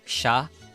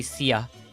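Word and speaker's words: siya: like they so um in filipino you pronounce it like sha some people would just say sia kind of the same as like the second pronunciation uh they were there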